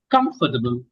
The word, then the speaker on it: comfortable: pronounce every single letter, we say comfortable. We have to pronounce every single letter. But actually, there are some sounds which are not to be pronounced. Sounds. Comfortable. Comfortable.